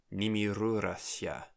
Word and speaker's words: Nimirurathya: Okay, for this last one, Nimirurathya. The stress is on the U, which means that the vowel between the R and the S would be lost.